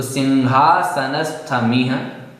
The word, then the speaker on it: सिंहासनस्थमिह: सिंहासनस्थमिह, यहाँ पर ना बोलना है आपको अनुस्वार की जगह, तो सिंहासनस्थमिह।